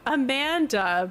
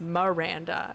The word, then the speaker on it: Miranda: I know I mentioned it before, but I used to get called Amanda by my teachers all the time, but my real name is Miranda, which is insane.